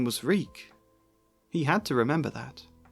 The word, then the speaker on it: Reek: My name is Reek. He had to remember his name. It rhymes with freak.